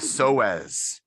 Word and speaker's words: psoas: with a p ps the p is silent why do we have